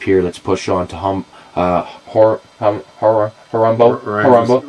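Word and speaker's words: Horombo: Let's push on to Harambo. Rhymes with Colombo. Well, it doesn't really rhyme with. But it's, you know. Sounds similar to.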